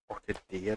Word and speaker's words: Orchidea: Orchidea, that's how you pronounce the name.